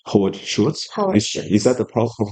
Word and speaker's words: Schultz: So of course it's a crunch time, and I think Starbucks, the former CEO, right, the founder, like Howard Schultz, is that the proper pronunciation?